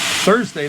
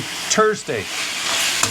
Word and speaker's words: Thursday: But the way Irish people pronounce TH, like you would say thigh, they say tie. Thanks, they say tanks, right? So Thursday, they say Thursday. But when we say tie, they say thigh.